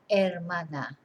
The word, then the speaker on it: hermana: brother and la hermana remember we don't pronounce the H so el hermano that hermana and the collective los